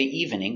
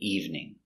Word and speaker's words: evening: word is evening the E is silent we don't say evening we say evening in the evening I